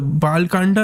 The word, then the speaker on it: Bal Kand: There's a Bal Kanda and there's Ayodhya Kanda.